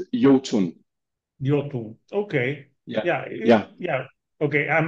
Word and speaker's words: IOTUNN: do you say uh we say just uh you Yun okay yeah yeah okay